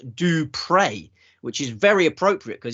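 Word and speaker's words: du Preez: in his name is spelt p-r-e-e-z but it's pronounced do pray which is very appropriate because he is a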